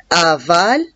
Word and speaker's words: avale: A-V-A-L-E, aval. À la fin, il y a la lettre E, mais je ne la prononce pas.